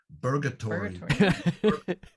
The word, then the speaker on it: Burgatory: a big fan of burger tree very very good sorry burger tree burgatory don't say it like an american burger say it like do you like going to burger king i comment on it